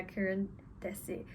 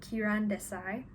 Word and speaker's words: Kiran Desai: inheritance of loss by karen tessie i've asked my boyfriend how to pronounce this apparently it's kiran kiran desai this book is set